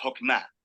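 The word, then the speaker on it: חכמה: En hebreo se pronuncia Hokmah y usualmente se traduce al español como sabiduría.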